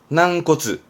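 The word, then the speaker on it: 軟骨: 난꼬츠. 나형용사로 씁니다.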